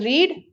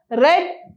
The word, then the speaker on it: read: it is pronounced as read in the present tense and here it is pronounced as read as the past tense the spelling is same